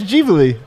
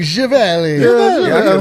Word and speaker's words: JaVale: She was right when she said it was Javale. We were like saying Givali.